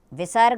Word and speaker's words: विसर्ग: और इसका उच्चारण ह की तरह होगा। विसर्ग का उच्चारण ह की तरह किया जाता है।